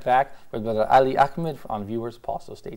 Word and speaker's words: Ali Ahmed: Thank you, brother Ali Ahmed. How do you like my pronunciation of your name?